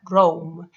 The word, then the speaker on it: Roam: Si queréis saber más sobre visual thinking, podéis buscar un autor que se llama Dan Rame. Dan Roam se escribe.